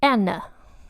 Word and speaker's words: Anna: So it's Anna. So like my name, but with N at the end, of Denmark is who we're looking at today.